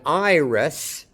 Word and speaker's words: Iris: Note that iris ends with an S sound, not a Z.